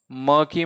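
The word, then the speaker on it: murky: Synonym of मर्की, ये वाला सुना होगा आपने शब्द मर्की, मर्की मैं बोलता हूं इसे क्योंकि आर साइलेंट ही बोलता है इसमें, मर्की, क्या है ये, मर्की, इट्स not monkey, it's मर्की।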